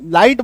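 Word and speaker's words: light: लाइट बोलते हैं क्यों क्योंकि जब किसी शब्द में आई जीएच आता है ना तो जी एच जो भाई साहब है वो साइलेंट हो जाता है जीएच क्या हो जाता है साइलेंट हो जाता है इसको लिख लीजिएगा अच्छे से है ना तो तो जब किसी शब्द में आई जी एच आ जाए जी एच वहां पे साइलेंट हो जाएगा पूरा इसका सीरीज है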